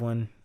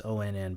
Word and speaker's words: onn: time i didn't have one in-house so i went out and got one the groove by i've been calling this onn but i guess it's pronounced on and then after i